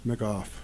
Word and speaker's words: McGough: i get it correct because i'm going to macoth make off yeah got it and it rhymes with see he already goes there he